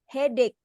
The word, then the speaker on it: headache: Number 3, headache. Oke. Yang masih ada bunyi C-nya di belakang tidak usah dibaca C. Jadi huruf bunyi terakhirnya adalah K.